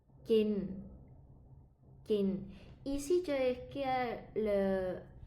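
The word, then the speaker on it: กิน: Le premier, kin. Kin.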